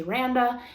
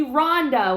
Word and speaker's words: Randa: said it's miranda without it's just like miranda without the mi you say randa and then is